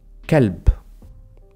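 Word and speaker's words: كلب: The next one is kelb, dog. Kelb with a k.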